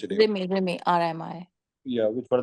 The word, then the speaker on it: Rimi: Rini? Rimi or Rini? How do you pronounce it? Rimi, RMI.